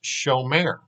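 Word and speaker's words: שומר: tense which which becomes show mayor so what you basically do is you put the o sound in the first syllable where there used to be an ah sound and then the second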